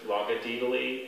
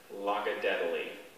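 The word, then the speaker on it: logodaedaly: there any alternate pronunciations there's just logadeedaly and locka deadly logiditally l o g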